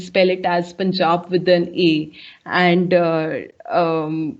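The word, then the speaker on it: Panjab: um persian form uh it will be pronounced as it should be written as p a p-a-n-j-a-b punjab and uh for your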